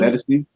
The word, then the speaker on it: Ledisi: How do you pronounce her name? Ledisi.